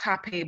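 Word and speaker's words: hapé: It's pronounced hape, but it's spelled like rape with an E with an accent on the end.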